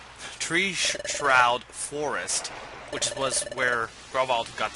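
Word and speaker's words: Treeshroud Forest: we haven't gone before Tre sh for uh ah that is not how you pronounce it um tree shroud Forest which was where gral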